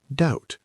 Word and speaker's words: doubt: Doubt, pronounced doubt, silent B.